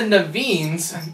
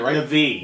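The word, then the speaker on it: Na'vi: The world, in fact, even the Naveens, I'm saying it right? Navi. Navis. N-A-apostrophe-V-I.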